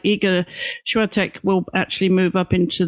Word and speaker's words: Świątek: And I think the rise of Iga and I learned how to pronounce her last name yesterday. Świątek Świątek Świątek Świątek Yeah, the I think the Polish say sh sh but we we say Świątek.